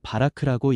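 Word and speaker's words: בָּרַךְ: 여기서 복이라는 히브리어 단어는 바라크라고 읽습니다.이는 은혜로 채우고 능력을 부어 생명을 자하게 하시는 하나님의 주도적 축복을 뜻합니다.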